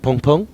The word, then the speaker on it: Bboong: people to pronounce, because it's kind of Bboong like that. And, but the B is like totally acceptable if you use that sound.